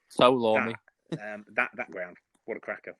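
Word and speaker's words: Tow Law: It's pronounced Towlaw or Towlaw.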